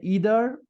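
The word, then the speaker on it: either: একটাও না আর আইদারের আইদার মানে হচ্ছে ইদার একটা মানে একটা হচ্ছে ব্রিটিশ উচ্চারণ আরেকটা আরেকটা হচ্ছে আমেরিকার উচ্চারণ সো এটা কোন ম্যাটার না দুইটার দুইটাই সহি ইদার আইদার দুইটাই সহি ওকে আইদার মানে দুইটার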